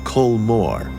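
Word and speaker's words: Cul Mor: here you really should look up Cole Moore just to get the proper sense for this mountain and its environs it's spelled c-ul space m-o-r and it's just as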